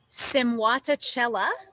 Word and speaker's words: Simwatachela: the end and um simat Cella is the pronunciation of my project and I am technically